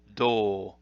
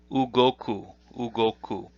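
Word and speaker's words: 動: The onyomi is do, with a long u sound. Kunyomi is ugoku.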